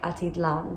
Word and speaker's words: Atitlán: the edge of lake atitlan atitlan sorry i kept pronouncing it wrong as i was traveling as well but it's pronounced lake atitlan because of the accent on the a and panna hatcher is